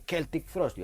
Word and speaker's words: Celtic Frost: Blade, la primera edición se pronuncia Celtic Frost, no Celtic Frost, que fue un error que tuvimos durante décadas.